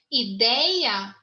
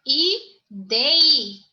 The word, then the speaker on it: ideia: Ideia, o forte é na segunda sílaba. Ideia. Tá? Então, não leva mais acento.